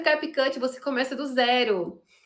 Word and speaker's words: CapCut: Se fosse um vídeo mais tranquilo, eu tinha que colocar efeitos que é o capcut, amiga.